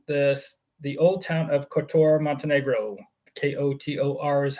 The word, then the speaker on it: Kotor: a home in this the old town of kotoro Montenegro k-o-t-o-r is how it's spelled yes and actually our link for our